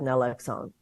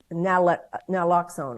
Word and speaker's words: naloxone: at this point, practically every home should have naloxone. Wow. I mean, is that how you pronounce it?